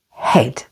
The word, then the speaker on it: head: with the letter A A is silent before or after another vowel like in the words Coco and head say the words after